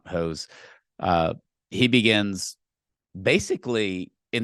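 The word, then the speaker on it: Höss: okay so commander hose it's spelled h SS but in German it's it's pronoun hose uh he begins basically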